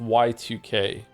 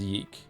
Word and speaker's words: YIIK: Is it pronounced yik or yike? It's actually pronounced Y2K, but everyone just says yeek.